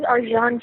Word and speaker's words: Arcan: His name is Arjan Chetan, and he's from Turkey, so it's a little strange name, but it's spelled Arcan.